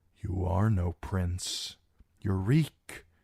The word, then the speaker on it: Reek: You're Reek. Just Reek. It rhymes with freak.